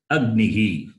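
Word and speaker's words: अग्निः: So now you can say ag and nihi, agnihi. This is how you have to read.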